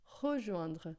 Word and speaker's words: rejoindre: Esse E aqui, quando ele não tem acento, quando ele não está acompanhado de alguma coisa assim que faz com que ele seja pronunciado, ele não existe em francês.